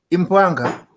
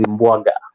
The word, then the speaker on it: Imbwaga: My friend, jina yako inaitwa Impwanga. Let me pronounce it well. Impwanga. Hello. Impwanga, yes. Yeah, my name is Imbwaga.